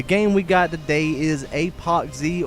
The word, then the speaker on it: ApocZ: we got today is apoxie or epoxy however you really want to pronounce it i say apoxie just because it rolls off the tongue just a little bit better before we get into